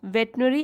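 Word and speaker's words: veterinary: team जो की अब वेटरनरी देख लीजिए यहां पे spelling way टी आई आर आई हम बोलते तो इसको है वेट्री वेट नई लेकिन स्पेलिंग आप देख लीजिए उसमें कई बार मिस्टेक हो जाति है टीम ऑफ वेटरनरी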